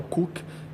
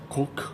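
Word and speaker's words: Khook: O outro filme, que é o Cook, Cook, que iraniano, não sei como pronunciar. Eles pronunciam o H como se fosse meio aspirado, como se fosse um R.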